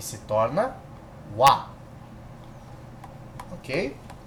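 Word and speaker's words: は: entanto, entretanto, não obstante, quando ele é utilizado como partícula, ele deixa de ser Ha e se torna Wa. Por quê? Porque é muito mais fácil de pronunciar Watashi wa do que Watashi ha.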